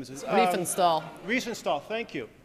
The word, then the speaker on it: Riefenstahl: And her name was Rennie, I can't pronounce the last name. Riefenstahl. Riefenstahl, thank you.